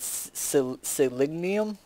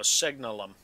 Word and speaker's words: Signalum: You said Selenium? No, Signalum. As in signal.